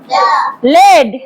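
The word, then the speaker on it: lead: দেখ এল ই এডি এডির উচ্চারণটা কি হয় লিড এডি লিড এখানে ই আর এ ডিফারেন্ট ভাল গ্রুপ মিলে লং সাউন্ড ই করে লং সাউন্ড ই করে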